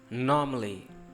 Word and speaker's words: normally: Normally, normally, normally. Stress, norm, reduce, ly, normally.